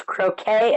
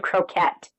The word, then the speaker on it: croquet: It's got two pronunciations. There's croquet and croquette.